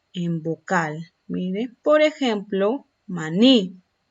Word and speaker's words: maní: Mire, por ejemplo, maní. Esta palabra yo la voy a tildar porque el acento lo tiene en la última sílaba.